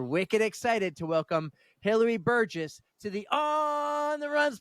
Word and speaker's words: Burgess: you got it right A lot of people say burgus but it's Burgess I love that yes